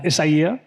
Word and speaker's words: Isaia: is James Shay I'm the global president of isaya uh isaya um pronounced uh is a Neapolitan luxury clothing brand